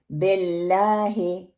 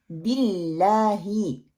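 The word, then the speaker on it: بِاللهِ: बे को मोटा करके फैला के पढ़ते हैं, बिल्लाहे बिल्लाही, ये दुरुस्त प्रोनाउंसिएशन है। दूसरी गलती क्या करते हैं, शद मजबूत ना पढ़ना, बिल्लाहे, नो, बिल बिल बिल्लाही।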